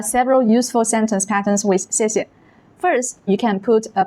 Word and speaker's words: 谢谢: Notice that the second syllable is usually light and unstressed, like 谢谢, 谢谢. And there are several useful sentence patterns with 谢谢.